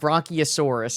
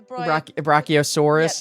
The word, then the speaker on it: Brachiosaurus: So my son Loix just said it. It's a Brachiosaurus.